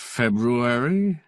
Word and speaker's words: February: here last February feary last February last February oh yes I was here last February he pronounced it exactly as spelled remember the night Stein